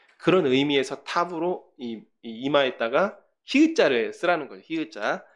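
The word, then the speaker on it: תָּו: 타부라고 하는 알파벳이 있습니다. 타우가 아니라 타부. 예. 좀 옛날에 배우신 분들이 타우라고 발음을 한다고 해요.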